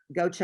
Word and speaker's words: Gautier: Gaucher. Gautier. Mississippi? Yes. You know how I know it's spelled like that?